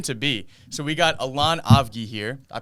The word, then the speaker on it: Allon Avgi: be yeah soon to be so we got elan ovgi here i pronounced your name correctly right on the money